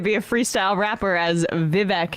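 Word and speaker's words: Vivek: a freestyle rapper as vivc is vi vi it rhymes with cake that's the one thing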